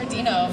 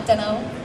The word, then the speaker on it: Deno: I think it's just Hunter Deno for me, D-E-N-O. And yes, that's how it's pronounced, not Deno.